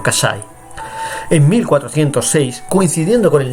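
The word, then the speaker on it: Cassai: En italiano se pronuncia diciendo Casai.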